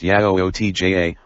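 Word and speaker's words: Yautja: just check the movie out the yautjia people pronounced yayo tja also known as the hish chu ten or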